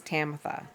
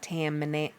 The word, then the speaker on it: Tamitha: hate My name is Tamitha, not Tamantha. Tamantha. Tamantha. A lot of people put an N in Tamantha. Drives me crazy. There's no N in it.